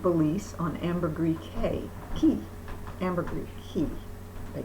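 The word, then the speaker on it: Caye: Ambergris Key, they call it. C-A-Y-E is spelled key here, pronounced key.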